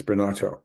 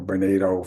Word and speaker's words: Bernato: sometimes I know it sounds like that it's bernato or bernado if you want to use that pronunciation although that's not a correct from an Italian's person perspective I don't think so bernado uh a professor of uh leadership and education